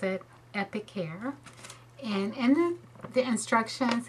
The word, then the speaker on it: Epicare: the Epic care now this is how you pronounce it epicare and in the the instructions it comes with